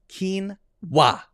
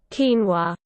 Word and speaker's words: quinoa: two syllables phonetic spelling quinoa so the pronunciation is a lot simpler than the spelling interesting here we go quinoa quinoa quinoa slower slow it down